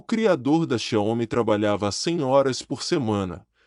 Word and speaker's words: Xiaomi: A palavra divide-se em duas partes, Xiao e Mi, e lê-se Xiaomi com acento tônico na segunda sílaba.